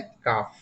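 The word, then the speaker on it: calf: काफ। सी ए एल एल यहां silent है।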